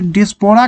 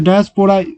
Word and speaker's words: diaspora: ये डिस्पोरा का मतलब होता है, डायस्पोरा होता है, sorry for the pronunciation, movement of people away from their own country.